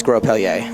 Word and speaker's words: Grospellier: I wonder why you guys pronounce the S. It's weird. I mean, I know it's Grospellier.